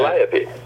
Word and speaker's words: Calliope: How do you pronounce that? Calliope.